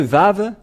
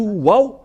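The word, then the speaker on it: ו: dans l'alphabet voilà le vave voilà vave ou vave c'est bien ça donc c'est pas du tout waou mais on le prononce bien vav et le vav est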